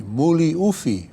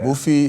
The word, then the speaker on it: Muli Ufi: My name is actually Muli Ufi Francis Hanneman. Oh, okay. Mufi is really not the way you shorten that Samoan name. It's really Ufi. But the sports writers and my could not pronounce Muli Ufi. It was too long. So they shortened it to Mufi.